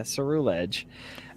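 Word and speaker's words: Ceruledge: Yeah, Cerulege.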